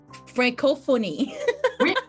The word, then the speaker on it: Francophonie: Francophonie. Did I pronounce it correctly? Yeah. Yes, I did it.